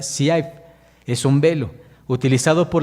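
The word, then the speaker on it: צעיף: Este velo, hermanos, en hebreo se pronuncia siaif.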